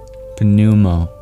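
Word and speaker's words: pneumo: Prana is actually where we get the English prefix panumo although we stopped pronouncing the P.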